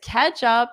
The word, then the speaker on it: catch up: This is a this is a joke we have in English because ketchup sounds exactly the same as the red sauce you need to wipe up, which is ketchup.